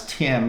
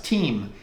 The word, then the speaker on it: TIM: is the company Tim that we would pronounce Tim but the Italians pronounce team and their plan is